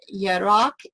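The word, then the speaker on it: יֶרַח: We have basically learned here in the last couple sessions that 3391, Yarak, and 3394, Yarek, that's how you say it.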